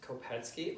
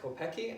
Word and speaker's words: Kopecky: kopatski yes it's pronounced kopetski like Gretzky not how it's spelt it looks like kopecki unless your check and